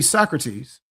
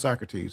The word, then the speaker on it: Socrates: See Socrates and it is pronounced Socrates for those of you who get ner say so crates.